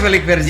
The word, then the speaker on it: Felix Vergy: Gue di skrip bacanya Felix Vergy. Iya, bener.